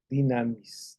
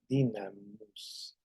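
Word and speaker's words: δύναμις: dinamis dicen algunos o dunamis pero esa Esta que está aquí que que estoy viendo por aquí esta u parece u en griego pero realmente es la pronunciación es la i dinamus ese dinamus verdad es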